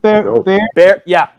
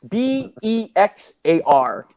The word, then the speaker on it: Bexar: Bear, is it pronounced Bear? Bear County. But it's spelled what? Bexar. No wonder I said Bexar, but it's not pronounced.